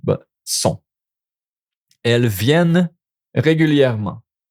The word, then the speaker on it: viennent: Elles viennent régulièrement. No NT, not no viennent. Viennent. Okay? It's more like just the NT you don't pronounce.